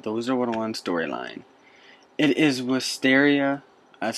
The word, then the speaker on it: Wisteria: It is Wisteria, that's how I pronounce it, the rival school to Ravenwood College, Ravenwood Schools of Magical Art.